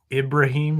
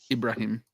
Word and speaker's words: Ibrahim: pronounce the name yeah it's ibraim not e Ibrahim but I'm gonna I'm gonna get that right the second half the first eye is I the second is an e sound so people just